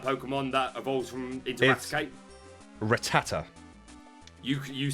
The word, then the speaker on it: Rattata: It does not say Rattata. It says Rattata.